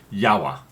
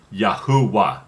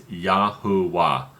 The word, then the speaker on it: Yahuwah: Or no, I'm sorry, they called it Yahweh. No, I'm sorry. No, the correct pronunciation originally, Yahuwah. I'm sorry, that's correct. The correct pronunciation is Yahuwah.